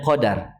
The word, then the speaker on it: Qadr: dinamakan dengan Lailatul Qadr kita bacanya Qadar yaitu sebenarnya memiliki perbedaan